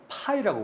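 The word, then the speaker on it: ∅: 그래서 읽을 때는 뭐라고 읽까요? 이거를? 그리스 문자거든요. 파이라고 부릅니다.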